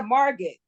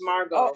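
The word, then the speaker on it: Margot: mar mar mar marget it said marget that's how it spell but it's pronounced Margo okay all right in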